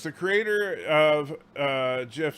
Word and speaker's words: GIF: Aberdeen says the creator of GIF says it's pronounced GIF. However, he doesn't dictate grammar and correct grammar. It's a hard G because it stands for graphic.